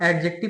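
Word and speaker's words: adjective: काम एडजेक्टिव करते हैं इसको आप एडजेक्टिव प्रोनंसिएशन मत करना क्योंकि जे के पहले अगर डी आता है तो डी ऑलवेज भी साइलेंट तो इसीलिए इसको एडजेक्टिव प्रोनंसिएशन करेंगे ना कि एडजेक्टिव और नाउन प्रोनाउन के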